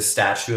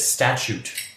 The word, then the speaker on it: statute: say it wrong so the incorrect is the statue of limitations but it's statute of limitations I only know that